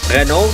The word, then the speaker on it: Renault: retired next one is renault uh renault that's how you pronounce it in french and you have daniel